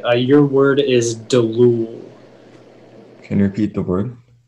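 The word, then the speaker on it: deloul: It's just delul. Delul? No, it's delul. Delul. Yeah. Can you repeat the definition again? It's a special breed of Arabian camels used for rapid traveling. Delul. Am I saying it right? It sounds right. Are there any alternate pronunciations? It's just the one, delul. Delul.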